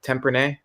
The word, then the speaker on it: Tempranillo: I can't pronounce shit ever, but Tempranillo?